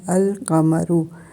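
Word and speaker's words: القمر: जब पढ़ते हैं तो बनता है अल कमरू तो इसका मतलब है कि लाम जो है वह अपनी जगह पर मौजूद रहा वो साइलेंट नहीं हुआ तो अब हम नीचे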